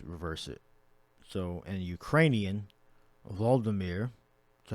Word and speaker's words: Volodymyr: So in Ukrainian, Volodymyr.